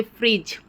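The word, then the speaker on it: fridge: जाएगी फ्यूचर में कि जब भी जी के बाद या जी के पहले डी आता है तो वहाँ पे डी साइलेंट हो जाता है।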